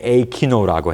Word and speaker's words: AiKINO: 저희 서비스는 A키노라고 해 가지고 키노가 영화라는 뜻인데 저희가 스펠링을 A i KO 근데 A키노라고 해요.